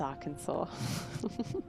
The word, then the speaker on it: Arkansas: I know it's Arkansas.